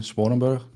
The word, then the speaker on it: Sponenberg: let's introduce myself first my name is sponenberg I live in the Netherlands so that was the Dutch pronunciation of my name and I'm a lead